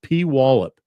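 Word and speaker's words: Puyallup: up into Washington uh P Wallop love that how do you say that that's said P wallup but uh it's all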